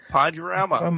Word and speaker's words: Podurama: we're associated with called Podurama. Is that right? Did I pronounce that correctly? Podurama. Yeah.